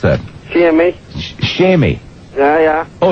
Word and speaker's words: Seimi: Seimi, how do you pronounce that? Seimi.